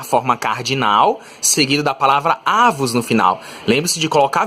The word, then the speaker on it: avos: Não confunda avos com avós nem avós, tá? Ó, não tem acento. Você lê isso aqui como sendo uma paroxítona, né? A sílaba forte é o A, né? A penúltima.